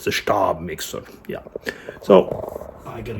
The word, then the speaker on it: Stab: Stab. Remember how to pronounce the ST.